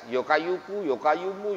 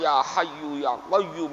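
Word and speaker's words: يا حي يا قيوم: Orang dulu bacanya mungkin ya nggak jelas. Yokayuku, yokayumu, yokayuku, yokayum, ya hayu ya qayyum bacanya yokayuku, yokayumu. Tapi karena itu dari sebuah keyakinan yang kuat, maka ada asarnya, maka ada hasilnya. Sekarang bacanya ya hayyu ya qayyum, ya hayyu ya qayyum.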